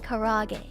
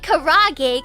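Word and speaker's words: karaage: that in mind K I don't want to sound like a wee and say it properly I'm going to say it karag cuz that's how you're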